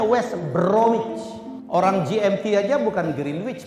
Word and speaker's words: West Bromwich: Norwich itu bacanya Norwich West Bromwich Albion bacanya West bromich orang GMT aja bukan